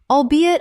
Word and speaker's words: albeit: Word 251 albeit Common mispronunciation albeat Correct pronunciation albeit Three syllables with the stress on the second. It means although. Example The project was a success, albeit a smaller one than originally projected when the funding was first approved.